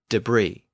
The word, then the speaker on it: debris: s or t so words that have a silent s or T at the end are usually lone words from French words like debris buffet and Bouquet I also noted in